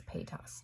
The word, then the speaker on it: Paytas: many subscribers she has Trisha Paytas hey toss however you print out I think it's paid off Trisha Paytas it's how you pronounce her last name she did a video